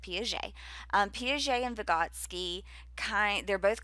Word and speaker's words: Piaget: And this is by Jean Piaget, who is French. So you pronounce it Piaget.